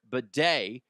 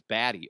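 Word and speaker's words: Badie: 70 yards uh but Tyler Beday which by the way that's what he goes by that's how you pronounce his name big thanks to uh Vic lombardian altitude uh 925 uh altitude for bringing that up to my attention Tyler I thought it was baddy or uh I don't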